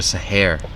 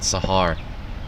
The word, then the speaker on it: Sahar: Keep using the anglicized pronunciation of her last name. It's Ikra Sahar and not Sahar.